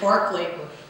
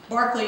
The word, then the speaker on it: Berkeley: non-euclidean geometry philosophers notably Mr Barclay briefing boss Barclay is spelled Berkeley the town is named after him he's a very interesting